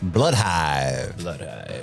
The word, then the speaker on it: Blood Hive: time it's episode five bloodhive which rhymes with five okay episode five blood hives oh I gotcha I